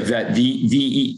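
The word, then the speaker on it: Veidt: Vett, am I saying it wrong? Tyson Vett? Yeah, Vett. V-E-I-D-T. D-T.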